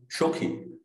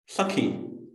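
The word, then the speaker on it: সখী: present-day bengali manner thus regarding the word shokhi i will not pronounce it as shokhi as it is done in present-day bengali but as sakhi as it is done in present-day hindi then there is the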